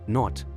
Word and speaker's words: knot: Then there's knot, where the K ties itself up in silence, just like a shoelace that keeps our shoes secure.